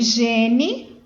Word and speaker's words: gene: Que se escreve gene, porém se lê gen.